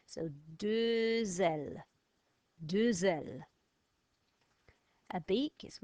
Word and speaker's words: deux ailes: So vowel there, sound the X, deux ailes, no vowel, deux cornes.